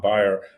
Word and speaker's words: Beyer: I go into a doctor's office and and they say my name is Byer. I'm here to see Dr. So and so and they go okay Mr. Bayer have a seat.